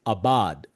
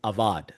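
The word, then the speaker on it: עבד: The word used here for work is abad. Actually the way you pronounce it is avad.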